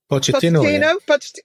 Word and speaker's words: Pochettino: Pochettino.